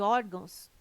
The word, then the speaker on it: órgãos: correto caráter intransferível e órgãos tem sua sílaba tônica na penúltima sílaba são paroxítonas observação poderia gerar dúvida